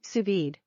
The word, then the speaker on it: sous-vide: what's on your menu what to cook sous-vide pronounced sous-vide cooking offers the perfect level of doneness for